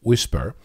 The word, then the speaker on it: WSPR: you first of all wspr pronounced whisper is a way of